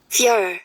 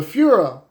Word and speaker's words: Führer: F-U-H. How you say it? Führer. Okay, one more time. Führer. There it is. There it was. Boom. The Führer.